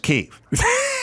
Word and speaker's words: Kiev: And she'd go, it's pronounced Kiev. And I'd go, I thought it was Kiev.